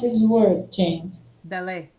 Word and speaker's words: ballet: Ballet. 7-8. Okay, ballet. T. Yay. How do you pronounce this word, James? Ballet. Ballet. Ballet. I think it's amazing. It's a French origin.